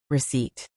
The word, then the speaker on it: receipt: Night, psychology, debt, receipt. Great. Notice the silent letters in these words. The K in night, the P in psychology, the B in debt, and the P in receipt.